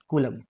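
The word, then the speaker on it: coulomb: है वो होती है कूलम क्या होती है कुछ लोग इसे कूलाम पढ़ते हैं कुछ लोग कूलम पढ़ते हैं कूलम जो भी आप ट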